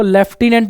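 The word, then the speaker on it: lieutenant: spelling है इससे ऊपर ये जो लूटने लिखा हुआ है लेफ्टिनेंट की स्पेलिंग है इसको लेफ्टिनेंट बोलते हैं हिंदी में और इंग्लिश में भी इसको लेफ्टिनेंट ही पढ़ा जाता है लेकिन लिखा क्या जाता है लूटने ऐसे ही कर्नल को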